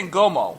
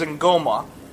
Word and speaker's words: ngoma: Now the word that they say, Ngoma, well, they say Ngomo. Ngomo. But the only way to pronounce it is Ngoma. And it's an A at the end.